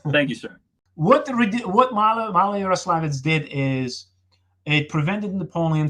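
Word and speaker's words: Maloyaroslavets: to the Battle of, and I'll let you pronounce it since I have trouble with this particular. Malaya-Yaroslavets. Thank you, sir. What Malaya-Yaroslavets did is it prevented Napoleon from reaching the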